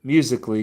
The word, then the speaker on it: musically: musically gets estranged because the verse insists that it be read as four syllables instead of three and with an odd if clearly called emphasis on the third syllable that comes to preserve the expected rhyme.